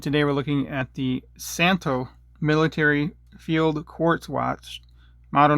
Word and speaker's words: Szanto: So just remember, it's SZanto, but the Z is silent.